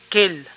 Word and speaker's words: quelle: habla si el sujeto es masculino es quel si es femenino queel para el plural si el sujeto es masculino Kel y para el femenino Kel básicamente los singulares y plurales tienen la misma pronunciación pero diferente escritura veamos ahora unos ejemplos